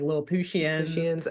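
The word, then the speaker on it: Lilliputtians: it looks like little Puttians basically, but they pronounce it like Lil Pushian.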